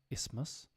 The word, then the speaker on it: isthmus: that's not too bad isthmus those double s's are absolutely killer thankfully for most people